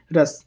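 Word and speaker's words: Rhus: रस taxi toxic कंड्रोन रस टॉक्सिकंड्रोन की बात करें हम यहां पे रस जो यहां पर एच है साइलेंट इसके हम उसे रस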